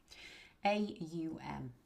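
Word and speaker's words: aum: A u m. You'll see it spelled om some places. This is a u m. When we chant it, we're going to pronounce the au m.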